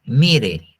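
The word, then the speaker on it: מרעה: el hebreo se dice Mire no le estoy diciendo que mire sino así se llama mire m i r con acento en la e tanto en el griego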